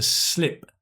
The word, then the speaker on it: slip: Notice the pronunciation, right? It's I, not E, right? To slip.